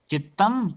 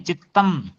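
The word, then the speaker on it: चित्तम्: योगा से क्या है सोनाली जी, आपको ही बताया था मैंने, परक्तम चित्तम और सर्वार्थम। परक्तम चित्त सर्वार्थम। चित्ता नहीं है, चित्तम।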